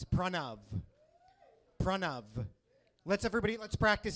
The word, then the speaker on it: Pranav: I had a lot of very interesting pronunciations of my name, of Pranav, you know? Like my teachers, they would call me Piranha. Piranha, yeah, like the fish, you know?